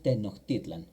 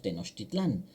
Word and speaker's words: Tenochtitlan: y termina en n, pero eh la pronunciación es tenoctitlan. Ya cuando lo decimos en castellano o en español hoy le decimos tenostitlan, pero realmente la palabra correcta en nawat es tenoitlan.